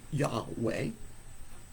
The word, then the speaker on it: Yahweh: yeah yeah W uh Yahweh we Sorry YH we uh is how it's usually spelled and that's very possible and so the pronunciation would be yah way but uh the the